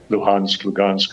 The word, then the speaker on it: Lugansk: Lugansk, this is the Ukrainian or Russian pronunciation of these oblasts.